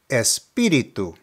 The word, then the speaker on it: espíritu: Note that there's an accent over the first I, so that is where the emphasis is located. The pronunciation is espíritu, espíritu.